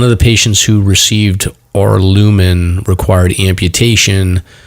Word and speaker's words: Aurlumyn: We're not going to be able to pronounce this. It's AURLUMYN. Arlumin.